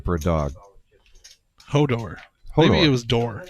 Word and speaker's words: Hodor: Richard, and his dog, Hodar. Hodar. Yep. Interesting name for a dog. Hodor. Maybe it was Door. Yeah, I think it I think I said it wrong.